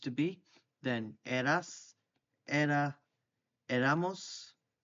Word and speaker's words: éramos: Then eras, era, éramos, the accent on the E, erais, and eran is they were or they used to be.